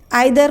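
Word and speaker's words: either: तो ईच हर एक, आइदर को ईदर भी प्रोनाउंस करते हैं, नाइदर को नीदर भी प्रोनाउंस कर सकते हैं।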